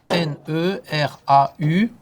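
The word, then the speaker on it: Néradeau: Oui, Neradeu. D-E-A-U.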